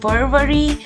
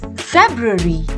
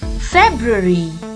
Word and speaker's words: February: called february now many of us may be pronouncing it as fervory or february but no it is february say it once more february and how do we pronounce this word it's